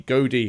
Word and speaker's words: Godi: And then the 5th class, which they haven't added yet, is the Godi, or Godi. You'll have to forgive my pronunciation there, G-O-D-I, and he's basically the